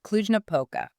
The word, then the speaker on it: Cluj-Napoca: It's pronounced Cluj-Napoca.